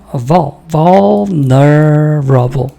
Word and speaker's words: vulnerable: vulnerable. 근데 거의 그 L 발음이 잘 안 들려요. 그러니까 원래 vulnerable인데 vulnerable. 이렇게 발음해야 돼요.